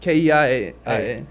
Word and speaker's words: Keian: It's like it's like when you say it like Ian, you like just with the KE in front of it. Uh-huh. IANKE, like KEIAN.